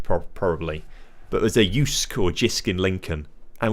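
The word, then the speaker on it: Jysk: Uh, I tell you what, we've been we've been getting loads of stuff from Jisk. I think it's not pronounced I think it's pronounced like Yusuke pro probably, but there's a Yusk or Jisk in Lincoln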